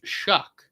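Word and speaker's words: Shough: And I guess he came out and said like it's pronounced Shuck. And I was like, okay. So, his name's Tyler Shuck.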